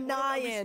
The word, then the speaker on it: Nyan Cat: Nyan. I say, yeah, like that, like cyan, yeah.